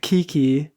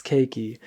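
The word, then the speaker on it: Keiki: talked about that yesterday she's not kiki you don't love me um it's cakey um how do you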